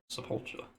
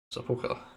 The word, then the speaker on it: Sepulchre: Um, Atonement, and then it enables Supplication and Sepulture. Sepulchre, even. I didn't realise that's how it's pronounced.